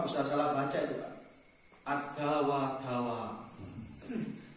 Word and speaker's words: الداء والدواء: Ada wadawa. Kita apa? Kita dawa-dawa. Ada wadawa padahal itu bacanya.